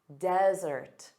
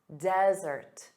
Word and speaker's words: desert: So one S, dry, arid land, desert, desert. So notice the syllable stress is on the first sound, da-da, desert.